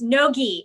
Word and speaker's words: no-gi: Oh, firstly, it's no-gi. It's a hard G.